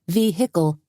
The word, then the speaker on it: vehicle: As was typical of law enforcement, Doogie pronounced it vehicle, hitting hard on the 3 distinct syllables.